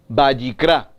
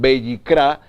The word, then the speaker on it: Vayikra: Entonces, entendemos que el libro de Levítico, en hebreo, su pronunciación, Vayikra, y significa y lo llamó, y llamó, y llamó. Muy interesante, entonces, Levítico, el libro de Levítico en español, en hebreo su pronunciación Vayikra, y significa y llamó.